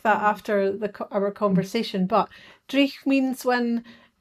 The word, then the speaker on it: dreich: Drugged or I'm Oh, when mispronouncing it. it's dreich. It's dreich.